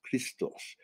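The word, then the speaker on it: Χριστός: We're talking about Jesus Christos. Okay. That's how it's pronounced in the Greek. Because there was no J. Right, there was no J. For a word Jesus. Right. Jesus Christos, okay, which was a copy of Serapis Christos.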